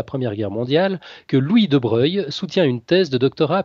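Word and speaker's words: Broglie: particulièrement Monsieur le Duc de Breuil ça s'écrit de Brogli il y a une subtilité mais ça se prononce debreuil alors licencié en lettres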